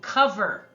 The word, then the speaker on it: cover: spell it out loud c-o-v-e-r in this word the letter o stands for the short a sound cover we don't say cover we say cover so that's an irregular spelling for that sound isn't it the letters